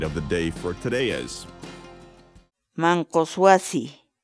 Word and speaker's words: manqus wasi: series videos where we teach you how to pronounce certain words in Quechua so our word of the day for today's Mancos wasi Mancos wasi Mancos wasi in English the Quechua word mang kawase means